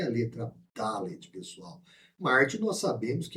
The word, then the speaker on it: Dalet: Então, quando você lê Delet ao invés de Dalet, que é a pronúncia da letra Dalet, quando você lê Delet,